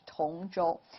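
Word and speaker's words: 通州: an area of beijing that's again different pronunciation here or a similar pronunciation different tone but yes you're right tonjol and this one is tong tong zhou we actually previously talked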